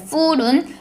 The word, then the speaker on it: fool: 나 배불러라고 얘기를 할 때 full은 full로 fu가 이제 모음이 하나밖에 없잖아요. 그에 반해 바보라는 뜻의 fool은 FOO니까 O가 두 개 붙어서 이거는 장음으로 발음을 해야 되잖아요.